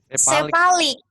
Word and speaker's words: cephalic: Cephalic tuh cara bacanya gimana sih? Yang palak. Sepalik. Sepalik bacanya. Cephalic. Nah itu dia.